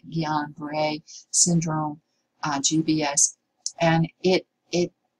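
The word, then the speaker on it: Guillain-Barré: see it called guillain-barre that is pronounced this is silent the g silent gian bray syndrome gbs and it it it is a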